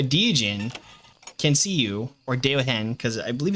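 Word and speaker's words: Deogen: It's actually pronounced Deohen. It is a Dutch word, and it translates to the eyes.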